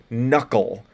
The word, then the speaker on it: knuckle: gnkn MN or PN it's going to be pronounced like an N by itself like knuckle it's knu and that